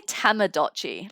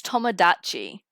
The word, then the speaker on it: Tomodachi: I feel like I say Tamagotchi, like a Tamagotchi, but it's Tomodachi. It's like the other way around.